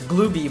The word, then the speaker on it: glub: Just have a very funny pronunciation which is glooby by the way in case you were curious for those for those not in the know. It's supposed to be gloomy. Oh, this next one